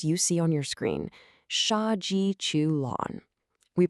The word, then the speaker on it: 杀鸡取卵: Shaji Chu Lon. We pronounce that Shaji Chuon.